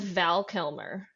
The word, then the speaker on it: Val Kilmer: Well, I actually found this article that what it was when the 90s movie came out with Val Kilmer. I think that's how you pronounce his name.